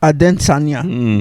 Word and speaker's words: Adesanya: Israel the Sanya oh Israel Aden Sanya that's how he wants you to pronounce it okay okay you know